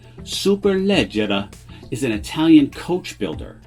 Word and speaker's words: Superleggera: radar cars family touring super legera or properly pronounced in italian superleggera is an italian coach